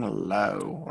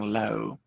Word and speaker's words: low: law so i'm feeling low i often hear confusions with law and low just make sure you get the good ore sound the very small mouth and the o distinct from each other moving on to another